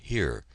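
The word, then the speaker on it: hier: French word prant or the German word here pronounced the same as our word then at 5:00 there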